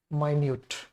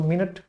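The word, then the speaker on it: minute: तो इसका एंटोनिम्स क्या हो जाएगा, माइन्यूट। इसके दो उच्चारण, एक तो मिनट, जो घड़ी में होता है मिनट, वो मिनट हो गया।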